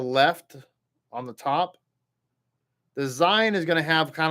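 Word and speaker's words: זין: The Zayin makes a Z sound, just a straight Z, like Zorro, okay, or Zebulun, okay.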